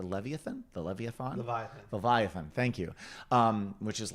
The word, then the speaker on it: Leviathan: is now in pre-production on I want to pronounce this right the levy thanthe Olivia fauna by Leviathan thank you which is like 70 or 80